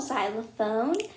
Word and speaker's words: xylophone: xylophone and you spell xylophone with a x actually um it may sound like it start it's with a z z but it's actually spelled with an x so um it's a